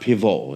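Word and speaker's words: Pivot: Who was also inspired by a French journalist named Bernard Piv. if I'm saying that correct. I'm sure the T is silent.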